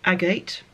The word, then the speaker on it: agate: a photograph in as well so it's an agate that's how you pronounce it um saw it in a sort